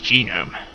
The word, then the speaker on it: genome: what identical I tend to call it a chinam but it's actually pronounced genome ok yer muther this popular at once I'll